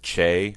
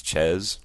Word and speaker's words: Ches: The correct pronunciation rhymes with Wes, by the way, because this email is from someone named, I think I pronounced it Che or Ches, Ches, it's Ches, Wes, Ches, I guess.